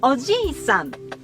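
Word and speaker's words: おじいさん: of defined vowel length, which distinguish a short vowel word like "uncle": Oji-san. from a long vowel word like "grandfather": Ojii-san.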